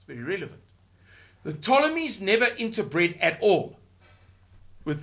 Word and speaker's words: Ptolemies: You don't pronounce the P. Why? I don't know. The Ptolemies ruled Egypt for centuries, and they were Greek.